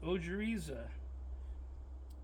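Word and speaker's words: ojeriza: It's ojiza.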